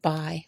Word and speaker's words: buy: So again, these words are walk with the L being silent, could with the L being silent as well, and buy with the U being silent.